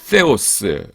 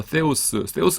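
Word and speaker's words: θεός: 그 다음에 theos 이렇게 됩니다. 그 theos인데 요게 th 발음인데요. th 발음인데 요게 the잖아요. the인데 그래서 이거 그 사람마다 때로 발음하시는 분이 있고 세로 발음하는 분이 있는데 때는 제가 볼 때는 좀 이상한 것 같아요. 그래서 저는 그냥 세로 합니다. 세로 합니다. 그러니까 때가 세에 가깝다고 해서 제 책엔 그냥 세로 표시해 놨어요.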